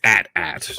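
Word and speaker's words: AT-AT: george lucas and ada it's at at it's pronounced so that it rhymes with hat hat george lucas said that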